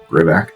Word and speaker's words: Grivak: How do you spell it? Grivak, G-R-I-V-A-K.